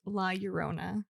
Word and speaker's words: La Llorona: And I read that it is pronounced La Llorona, not Llorona. Okay. I had to Google that because I was like, wait. Probably sounds better with a Spanish accent.